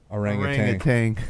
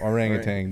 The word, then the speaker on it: orangutan: Orangutan. Orangutan, Danny. That's pronounced That's orangutan. That's not how you spell it. Right? There's no G at the end. O-R-A-G-U-T-A-N. Yep, orangutan.